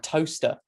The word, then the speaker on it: Towcester: It's rife because you got right just outside Silverstone, you've got Toaster, but it's spelled Towcester.